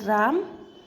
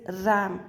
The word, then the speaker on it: RAM: That is called रैम, रोम. RAM इज रैम. इसको राम नहीं बोलेंगे, इट्स प्रोनाउंस्ड एज रैम, और ये होता है रोम.